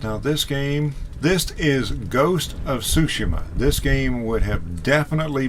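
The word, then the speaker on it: Tsushima: All of that being said, I absolutely loved Ghost of Sushima. Now the reason I'm pronouncing it that way is because that's the way it's pronounced in the game.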